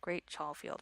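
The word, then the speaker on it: Great Chalfield: which is strange because you pronounce it exactly the way it looks which rarely ever happens in England but it part part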